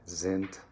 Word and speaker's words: sind: phrase which is zelie zint d tolton all right so there's z sounds zelik zint all right um and then zent ends with a t um sounds of an